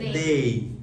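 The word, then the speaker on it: they: তারা হয় দে আর এটাকে বেসিক্যালি আমরা দে বলি বাট সঠিক উচ্চারণ হচ্ছে দেই সো আমরা এখন থেকে কি বলবো দেই আর দেই বলবো সো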